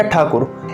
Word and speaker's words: ठाकुर: अब रविंद्रनाथ टैगोर या रविंद्रनाथ ठाकुर, इसमें आप कंफ्यूज तो नहीं हो? दोनों एक ही व्यक्ति के नाम हैं, रविंद्रनाथ टैगोर या ठाकुर।